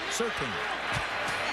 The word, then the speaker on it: Surtain: We talk about Madison and Surtain. Same thing on the other side of the ball. You say it right? Surtain.